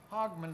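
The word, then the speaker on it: Hogmanay: Now, this is a word I didn't try to pronounce, hogman. I guess. H O G M- A N A Y.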